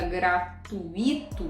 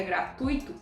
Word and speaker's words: gratuito: Então você diz o ingresso era gratuito, em vez de dizer o ingresso era gratuito. Então lembrando, gratuito não existe.